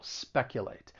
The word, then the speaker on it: speculate: cause some problems now the verb has three syllables the stress is on that first syllable speculate and I really think